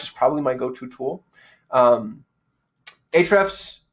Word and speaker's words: Ahrefs: Ahrefs, the A is silent, by the way.